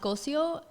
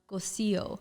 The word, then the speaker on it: Cossio: a two s's and it was originally pronounced golcio um and then once it crossed over to the US now it's ghostio oh but not a